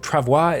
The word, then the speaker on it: travois: Next up, I want to build a travois, and I've been told travois is how you say it, so we want to